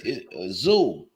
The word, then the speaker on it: Tszyu: Hey Kim, it's Tszyu. Tszyu. His last name is just Tszyu. Tszyu. Yeah. Damn. So that Tszyu. So the TS is silent.